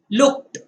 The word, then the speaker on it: looked: इसका उच्चारण ट से करना है, cooked, looked, ना कि ड लगाकर, cooked, looked, ऐसे उच्चारण उसका नहीं करना है, वह अयोग्य है।